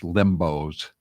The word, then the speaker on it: Limbaugh: And I know how to pronounce Rush Limbaugh's name.